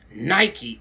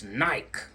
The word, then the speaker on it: Nike: It's not Nike, it's Nike. The E makes the I long.